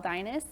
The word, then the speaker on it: Deines: in my husband says like Dynasty or as my kids say is in dinosaur oh okay that helps